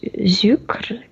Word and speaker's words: Zucre: Comme Zucre, comme avec un Z au début. Zucre.